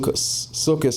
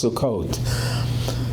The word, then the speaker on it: Sukkot: The upcoming holiday is called suk sukus. If you're Ashkanazic, if you're Spartik, it's Sukkot. Different pronunciations of Hebrew.